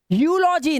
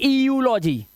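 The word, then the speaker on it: eulogy: जब किसी वर्ड में या शब्द में ईयू दिया हो तब ईयू का उच्चारण यू से किया जाता है। कैन यू इमेजिन, देखिए, यूलॉजी ना कि ईयूलॉजी, यूलॉजी, ईयू दे रखा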